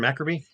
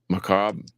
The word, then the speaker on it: Macabre: Dennis the Menace from Maccabi. Macabre. Tomas. I said Maccabi. I'm an idiot. I knew the name of the band too, but I said it wrong.